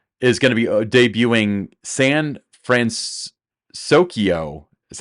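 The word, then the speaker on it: San Fransokyo: um so Disneyland is going to be debuting sand France sokyo is how they're pronouncing it uh France and San Francisco Square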